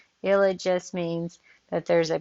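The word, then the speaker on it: ylide: them there's also a this is an illid ill it okay so this is how you pronounce y l i d e ill it just means that there's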